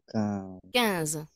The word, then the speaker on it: quinze: No vayas a decir 15, ¿eh? Es cans. Cans. Quinze.